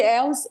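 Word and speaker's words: Ehlers: A a pronúcia é síndrome de Els.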